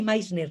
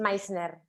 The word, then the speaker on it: Meissner: Que fue discípula de Meissner, es así Meissner, ¿no? ¿Se escribe? ¿Cómo se escribe, Aurora? Perdón, que estaba desilenciando. Meissner, se escribe M-E-I-S-Ner, Vale, como si fuese alemán. vale. Meissner.